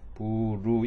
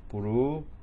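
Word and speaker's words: ブルー: 부루 이거는 길게 발음하는 뜻이고 부루 라이토 요코하마 이래요.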